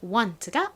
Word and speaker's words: want: 자, 그리고 끝에 발음 또 T 발음이 나네요. 앞에서 많이 썼던 바로 T이죠. 자, T 써볼게요. 요렇게. 자, 이렇게 쓰면 원하다 라는 의미의 want가 완성됐습니다.